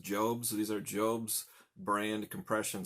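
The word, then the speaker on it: Jobst: one is kind of a Medical Supply it's pronounced jobs these are job's brand compression stockings I'm a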